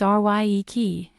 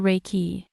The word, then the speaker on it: Reiki: meaning universal life force although the proper Japanese pronunciation is rye key it has been westernized to Reiki Rey means Universal omnipresent